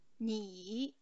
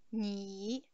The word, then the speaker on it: 你: Io, 我 il terzo tono, 我 tu, 你 sempre il terzo, scende poi sale, 你 lei, 您 il secondo tono, 您 lui, 他 il primo, lei sempre, 他 hanno lo stesso suono.